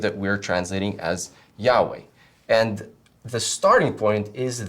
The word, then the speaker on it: Yahweh: Haya or Yahweh, you can hear that it's the same root verb.